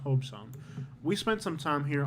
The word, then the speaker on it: Hobe Sound: And it's not Hobie Sound. I think it's pronounced Hobe Sound.